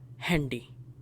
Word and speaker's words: Handy: Now for this this is not handy but rather handy. Handy numa. Why are we not pronouncing this a as a because this word we have borrowed from English only.